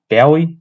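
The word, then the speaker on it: Bowey: melbourne's uh premiership till this year jake bowie bowie yeah that's how you pronounce it yeah how many points did port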